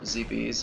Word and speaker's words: Zebes: Um, but I believe it follows right after, like, the planet Zebes, or Zebes, as I like to call it, more of the Greek over Latin pronunciation of it.